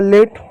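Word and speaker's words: late: टी को कांसोनेंट का ट हो गया ई साइलेंट हो गया हो गया लेट इन शब्दों को पढ़ने की कोशिश कीजिएगा एट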